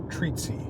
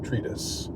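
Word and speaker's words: treatise: um he he uh he used the word tretis but he pronounced it treaty he said treaty instead of tretis and this is something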